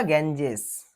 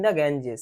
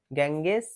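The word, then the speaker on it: Ganges: বিসর্জন দেয়া হল বা নিমজ্জিত করা হল ইন গ্যাঞজেস কোথায় গঙ্গায় গ্যাঙ্গেস ওটা গ্যাঞজেসটা ভালো উচ্চারণ হয়ার যেখানে হিউজ ক্রাউড হিউজ মানে বিরাট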